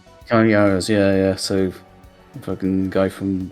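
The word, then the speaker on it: Cary Elwes: Paxton is voiced by, how do you pronounce it? Carrie Yules? Carrie Elwes? Carrie Yules, yeah.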